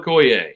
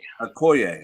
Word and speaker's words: Okoye: is it is it is it pronounced just like the Nigerian nightmares last name that's right baby Emmanuel Okoye Okoye all right so there